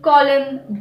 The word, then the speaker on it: column: letter the letter n the letter n is always silent after an m at the end of the word for example autumn column damn him him is usually a